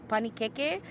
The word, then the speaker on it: panikeke: eating this back home it's called panikeke it's how you say it in Samoan it's the word pancake